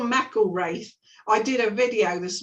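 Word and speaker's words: McIlwraith: um what is it oh Mackle race I did a video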